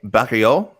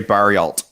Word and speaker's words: Barriault: Canadian Marc-Andre Barriault, if you want to pronounce his name correctly, that is coming up now to weigh in at middleweight.